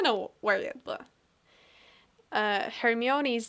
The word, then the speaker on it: Hermione: I don't know where yet, but Uh Hermione's name is pronounced Hermione.